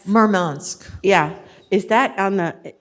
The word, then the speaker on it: Murmansk: a mic um the city i'm going to mispronounce it marmot murmansk yeah is that on the is that on